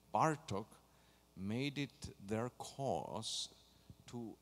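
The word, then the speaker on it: Bartók: lot of examples and since hungarian speech often the accent in a word is on the first syllable it's don't say par talk it's bartok it's kodai it's a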